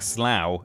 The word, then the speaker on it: Slough: You pronounce it like slow it.